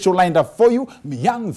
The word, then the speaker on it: Miyang: Did I pronounce that correctly? Miyang?